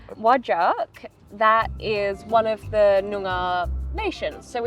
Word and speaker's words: Whadjuk: So, perfect pronunciation. Whadjuk. Whadjuk, that is one of the Noongar nations.